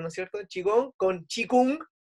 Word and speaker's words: qigong: sea se escribe que compró en realidad se pronuncia chi kung chicos en verdad ya pero cuando la otra